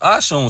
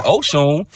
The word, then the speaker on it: Oshun: They even disrespecting mother Ashun because her name is pronounced Ashun. So there's a lot of people running around saying Oshun, and Oshuns mean dirty.